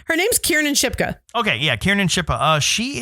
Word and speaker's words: Kiernan Shipka: Her name's Kiernan Shipka.